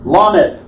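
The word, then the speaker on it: ל: Lamed. L as in lion.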